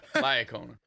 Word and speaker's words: La Iocona: Can you pronounce it for us? No, I have a hard time. I'm kidding. La Iocona.